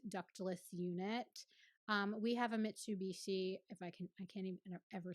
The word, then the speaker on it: Mitsubishi: We have a Mitsubishi.